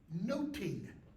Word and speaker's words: nothing: and he says nothing in Shakespeare's day it's pronounced noting Okay the reason that's